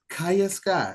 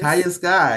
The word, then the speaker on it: Kaya Sky: So again, we're here with Miss Kaya Sky. I said it right this time, right? Yes. Kaya Sky. Yes, I got it right.